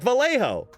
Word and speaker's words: Vallejo: Like Vallejo, because it's a Spanish city, you see. It's a Spanish name for a city.